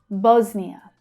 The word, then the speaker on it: Bosnia: Bosnia. Bos is the strong syllable there.